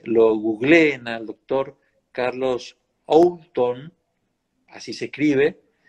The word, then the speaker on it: Oulton: googleen al doctor Carlos Oulton, así se escribe. Se escribe, pero se pronuncia sin la O.